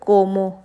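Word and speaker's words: como: तो हम इसको बोलेंगे सीएन क्योंकि हम स प्रोनाउंस करेंगे इसको हम बोलेंगे कोमो क्योंकि ओ आ रहा है सी के बाद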